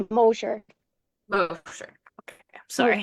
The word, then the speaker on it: Mosher: His last name is pronounced Mosher. Mosher. Okay, I'm sorry. Mosher.